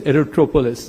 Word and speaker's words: Aerotropolis: Bogaparum aero aerop Aerotropolis erotropolis that's how it's technically pronounced and what can we